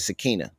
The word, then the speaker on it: Sakina: Hey, He like Sakina. Sinetta. He likes that's how you say it, Sakina.